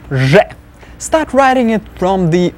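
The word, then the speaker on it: з: Next one is letter Z. Z. Looks like a rounded 3. Z. Z. Z. It's more obnoxious sounding than English Z. Kind of like a mosquito going in your ear.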